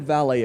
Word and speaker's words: Vale: for you to research for today walmart and valet or valet or whatever it is rom how